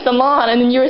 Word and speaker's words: Solange: Mama keeps calling me Solange.